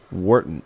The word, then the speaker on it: Warrenton: Warrenton, Missouri. Wharton, Missouri. Wharton. It's spelled Warrenton, but if you're good enough, you can break that down into 2 syllables. Wharton.